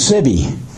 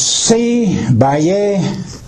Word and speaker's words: Sibby: me to them and my name is siby pronounced in English but it's C Bay C Bay is what it is and but they pronounce it Cy so I I go